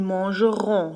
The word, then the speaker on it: mangeront: Alors ils mangeront. Le ONT est aussi prononcé comme on.